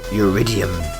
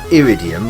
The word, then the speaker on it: Uridium: Commodore 64 Houston consultants eridium iridium iridium I'm not sure you pronounce it it's not pronounced iridium like the actual metal because your Rydia MIT